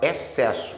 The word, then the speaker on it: excesso: Você fala excesso, o X não sai.